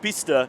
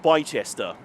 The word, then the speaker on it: Bicester: later from that one video that Bicester is pronounced Bicester, not Bicester.